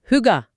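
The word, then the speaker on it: hygge: Hüge. Telaffuzu biraz zor. Hüga gibi bir şey sanırım. Evet. Hüga.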